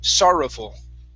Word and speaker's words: sorrowful: you is sorrowful okay give me good ours here sorrowful okay keep the tongue down don't let it touch the top of your mouth sorrow sorrowful there you